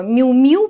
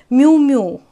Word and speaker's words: Miu Miu: этот бренд ну вот википедия говорит что мяу-мяу правильно ну еще допустимо произношение miu miu ну типа как мяуканье котенка miu miu но у нас котенка